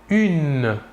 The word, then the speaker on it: une: une il s'écrit humaine il faut bien différencier la prononciation entre le masculin et le féminin au masculin 1 et au féminin une voilà encore deux exemples